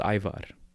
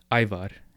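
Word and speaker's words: Ajvar: with a thing called Ivar iar Ivar A J because the J is pronounced like a y in the Balkans v a r Ivar okay and that's a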